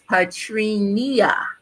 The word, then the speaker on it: Patrinia: It's my mother put an extra syllable in my name, so it's Patrinia.